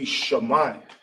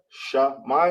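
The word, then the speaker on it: שמע: That will be Shemai. Remember, always write the capitals. Right there. You got Shah, you got Mai together. Boom. Now, this is hear or listen. It's Shemai in Hebrew, S-H-A-M-I, Shah-Mai, and I'm going to write in the ancient.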